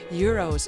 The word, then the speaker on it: gyros: The singular pronunciation of euros may in fact be the right way to say it in Greek and an acceptable alternative in English. So, while annoying, euros is not incorrect.